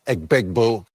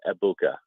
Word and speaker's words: Egbuka: It is Abuka, Emeka Ebuka. That is how it's pronounced. The G is silent.